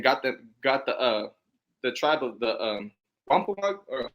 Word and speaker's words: Wampanoag: So when the Edomites came in here and got the tribe of the Wampanoag, or how do you say that? Yeah, you said it right first time. Wampanoag.